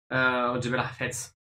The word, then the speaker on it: Jebel Hafit: And there begins the final climb of this retour, Jebel Hafit. Jebel Hafet, if you have to pronounce it correctly.